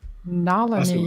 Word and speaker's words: Nalani: it more so yeah it looks almost hawaiian like nalini but it's actually sanskrit and and it means